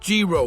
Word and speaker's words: gyro: I think it's pronounced Gyro, Michael.